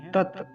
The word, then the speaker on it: तत्: क्या कहते हैं, तस्यवि, तस्य, तस्य कह देते हैं, तस्य नहीं है, तत्।